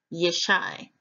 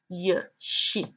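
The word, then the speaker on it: ישי: Joshua Strong's each 34:48 pronounces Jesse as yes I yes I the consonantal biblical hebrew text has it as you'd shin you'd which is y sh y yeah she yeah she the meaning given it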